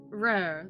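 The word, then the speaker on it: Rher: How would you pronounce that? Rur. Rare? Rare, the trickster moon god.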